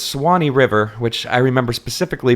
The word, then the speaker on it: Swanee: It's Swanee River, which I remember specifically because I'm a Florida native. That is Right. our state song. It is spelled Swanee. He leaves a whole syllable out of this.